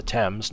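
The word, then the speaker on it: Thames: are close to the temps no wonder flooding is such a risk the TS yes that's how you pronounce that the River temps oh I've only got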